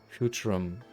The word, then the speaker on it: Futurum: That's how it sounded pronounced in the local tongue anyway. Futurum.